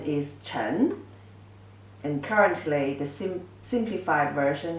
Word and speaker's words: 臣: the subordinate, later on they refer to, and pronunciation is 臣, and currently the simplified version is like this, means subordinate or you obey.